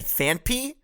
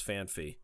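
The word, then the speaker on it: Phanpy: on fanp and donfan yes yes I said fanp that is how you pronounce it look it up are you serious this whole time I I feel like I'm being Gast lit I thought it was fan Fe there's it's pH a n p y it's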